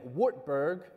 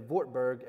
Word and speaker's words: Wartburg: correct me for that so when we get to what looks like Wittenberg and Wartburg and worms it's going to be Wittenberg and vortberg and verms and I'm not having a mental breakdown I promise that's actually how you're supposed to pronounce them okay papacy W's are